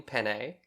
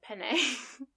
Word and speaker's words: penne: So just to let you know what this week's menu includes, it's pen. Is it Bethany? Pasta. No, it's pen pasta with meat sauce. Do you mean penne? Oh yeah, penne.